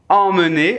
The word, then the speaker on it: emmener: Emmener, el número 1, amener, el número 2.